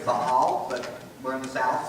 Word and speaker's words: Baal: b a a l if you want to pronounce it super straight it's Bal but we're in the South so I say baale um when they started worshiping him it was